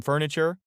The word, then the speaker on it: furniture: Some some some furniture. Putting together some furniture. Pudding and fern. The most stressed syllables there. Furniture. The t here is the ch sound.